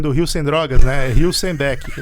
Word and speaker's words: Hülsenbeck: Hilsenbeck. E pronto, não esquece mais, Hilsenbeck. Hilsenbeck. Ótimo. É a pronúncia.